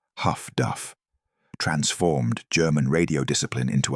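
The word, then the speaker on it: HF/DF: Highfrequency direction finding HFDF, pronounced Huff Duff, transformed German radio discipline into a liability.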